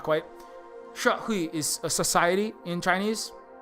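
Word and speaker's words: 社会: Shahui. Sha is like pronounced, not she. It's like sha. It's not. It's kind of like the, but with that's the way that vowel is pronounced.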